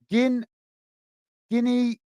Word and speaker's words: Guiné-Bissau: Hassan is saying Guiné-Bissau is a small West African country and former Portuguese colony, and it's pronounced in Portuguese as Guinea-Bissau. Well, thank you very much, Hassan.